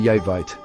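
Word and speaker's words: Jeremejevite: Pronounced yermeite.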